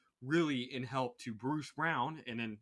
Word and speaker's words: Braun: it Braun from yeah it's not Brawn it's brown yeah it's really confused